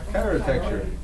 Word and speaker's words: Chirotecture: from, how do you pronounce it? Chirotecture.